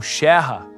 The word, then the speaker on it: Scherrer: Para muitos, assim como no caso de Emil Clement Scherer, ou Scherrer, como era a pronúncia correta, a reintegração da Alsácia como território alemão foi um sonho que durou pouco.